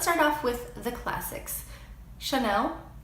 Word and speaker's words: Chanel: off with the classics Chanel which I definitely catch myself doing sometimes but actually in French the L is much softer it's on as elongated so it's Chenin it's like if the